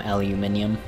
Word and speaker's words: aluminium: Super, super pompous, but I like when people... people pronounce aluminum aluminium. It's actually spelled aluminium in other countries. There's an extra I.